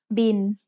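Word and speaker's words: บิล: It's the word bill, but we read it in Thai as bin. Thai doesn't naturally have the L sound at the end of a syllable, so it changes to sound like the letter N.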